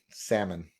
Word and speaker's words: salmon: Well, because the silent L in salmon. Although to some people it's not a silent L.